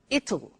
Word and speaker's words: it'll: You notice how it will becomes it'll it'll strange pronunciation.